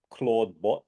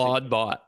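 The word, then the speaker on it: Clawdbot: recently on on Twitter and it's it's called Claudebot and it's spelled not CL A U like Claude which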